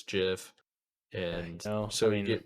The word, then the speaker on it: GIF: scroller as well and i heard you pronounce it gif it's jiff and so we can